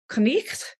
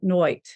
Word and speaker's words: knight: actually in Old English would have been more like knicht, because it would have had that German blach sound that no longer exists in English. It would have, by the time of Shakespeare, been pronounced more like noit.